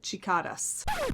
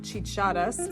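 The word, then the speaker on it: chicharras: This is the color Chicadas. Hello, lovely people. I'm coming to you before you come to me in the comment section. This is actually pronounced chichadas, so it's Spanish for cicadas, which are, it's kind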